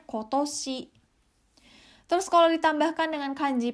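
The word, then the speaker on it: 今年: cukup artinya hari ini kalau dipasangkan dengan kanji tahun toshi menjadi tahun ini dibacanya kotoshi Terus kalau ditambahkan dengan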